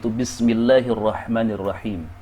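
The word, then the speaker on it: بسم الله الرحمن الرحيم: Karena itu adalah " Al-Shamsiyyah," huruf "al" tidak diucapkan. Sebaliknya, huruf "al" digabungkan ke dalam huruf "ra." Bismillahirrahmanirahim. "Ar-Rahim" juga sama halnya di sini. Ini adalah " Al-Shamsiyyah" karena "al" bertemu dengan huruf Shamsiyyah "ra," dengan menggabungkan huruf lam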